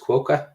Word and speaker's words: QUOKA: My question with this, and is it pronounced QUOKA?